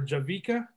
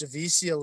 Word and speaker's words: Javicia: if it's Javicia or Javika. Leslie. I think it's Javicia from the way Kimmel pronounced it. So it's Javicia Leslie. Yeah. Javicia, yeah. So, and she didn't correct him, so I'm assuming it's Javicia.